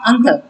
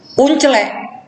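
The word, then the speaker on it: uncle: Kalau yang belajar bahasa Inggris akan belajar bacanya angkel. Tapi yang nggak pernah belajar bahasa Inggris, uncelek, ya kan gitu kan? Tulisannya kan uncelek. Nah, untuk orang yang pernah belajar bahasa Inggris, itu bukan uncelek, angkel.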